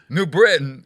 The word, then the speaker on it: New Britain: New Britain is called New Britain. Yeah. But it's not New Britain. It doesn't have a T.